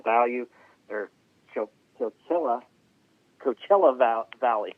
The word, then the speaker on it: Coachella: who spent a lot of time in the chocala value they're coachella valley it's hard for me to say i